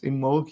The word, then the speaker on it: Imbolc: b o l c imul you would say but it's imul you don't pronounce the b and um yeah it